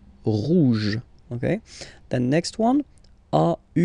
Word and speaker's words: rouge: Final E not pronounced, so it will be like rouge, rouge, rouge, okay?